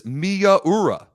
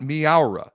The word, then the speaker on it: Miyaura: It is Miyaura, not Miaura.